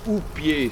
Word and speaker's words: houppier: Quand on abat l'arbre, comme vous avez vu plus loin, le dessus de l'arbre s'appelle le houppier. Ça s'écrit H-O-U-2-P-I-E-R.